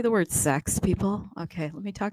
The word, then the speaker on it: CeX: I say the word sex people okay let me talk in a low voice here's what sex is it's spelled CeX it's a centralized exchange